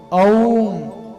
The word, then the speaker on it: ओम: ओम अ उ म ओम।